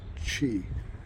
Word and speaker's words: Cee: So I depart O Logoso, heading for, I think it's pronounced Chi, C-E-E.